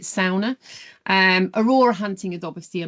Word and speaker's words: sauna: And there's some truly unique experiences too, like ice floating in a frozen lake, unwinding in a traditional Finnish sauna, or they pronounce it sauna.